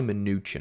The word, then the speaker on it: Mnuchin: secretary munchen munchen mnuchin it's probably mnuchin i think that's how they pronounce it and it doesn't